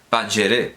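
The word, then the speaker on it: پنجره: Canadá el canal que se escribe Panjara con J, pero evidentemente se pronuncia Pangeré, Pangeré, ventana, quiere decir ventana, Pangeré, ventana al mundo persa, la poesía persa.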